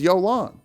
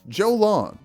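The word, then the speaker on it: Jolán: Also, her name is Jolan. Ymir calls her Jolan. I thought it was Yolan. And then Ymir calls her Jolan. So, because the character in the game said Jolan, I'm pronouncing it Jolan.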